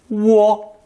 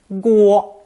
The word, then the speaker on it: 涡: It's usually pronounced first tone, wo, wo. It has a second pronunciation too that adds a G sound, guo, but this is restricted to the name of a river, Guohe, in China's Henan province.